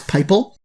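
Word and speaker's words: PyPI: and stick with pipel that's pypl that's how that's pronounced as pipel then it's going to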